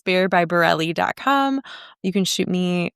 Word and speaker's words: Barrile: Um, my last name is B A R R I L E. Not sounds like it's spelled, but bear by is my Instagram.